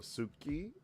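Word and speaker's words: 好き: However, like when you pronounce the word ski, like ski like you know ski to like something suki, you can say suki suki, but it's typically pronounced ski, which is kind of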